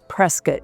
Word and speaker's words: Prescott: So, for that one person out there, you know who you are, who always likes to comment about how I pronounce things. It's Prescat.